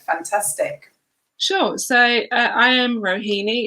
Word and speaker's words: Rohini: So I am Rohini. It's probably the only name that you're going to hear that rhymes with bikini.